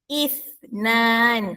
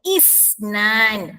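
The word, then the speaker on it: اثنان: Huruf th yang bergaris bawah. Bukannya isnan. Salah ya. Isnan salah ya. Yang betul ialah isnan. Ha nampak huruf sa bunyi hurufnya antara hujung lidah kita dengan hujung gigi atas. If bila awak letak jari tangan depan mulut masing-masing ada angin keluar.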